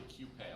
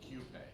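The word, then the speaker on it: Qupé: It's actually Cupé. A lot of people say coupe, yeah. but it's actually Cupé. So you would pronounce the Q.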